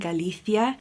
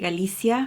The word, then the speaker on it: Galicia: Now if you're from Spain and you speak the proper Spanish, you would pronounce it like that, sort of with a Z type of sound, Galicia. I'm from South America and here we say it Galicia, so that's how it sounds more natural to me.